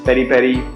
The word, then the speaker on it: peri-peri: There are different pronunciations: peri-peri, piri-piri, pili-pili.